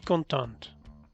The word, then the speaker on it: contente: Je suis contente. O je suis content o je suis contente. Al pronunciar la T, lo estás diciendo en femenino.